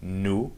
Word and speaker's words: nous: Nous, you don't pronounce the S at the end.